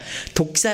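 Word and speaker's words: δόξα: 영광 이란 단어를 살펴보면 독사 란 단어가 차 사용 되요 식 씩씩 뱀 복사가 아니라 독사 라는 말이 그 발음 그대로 에요 영광 이란 말이 헬라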